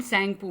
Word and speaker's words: Tsangpo: उसको हम सैंगपू बोलते हैं. स्टार्ट तो टी से है, TSANGPO, बट टी is silent here, we called it सैंगपू.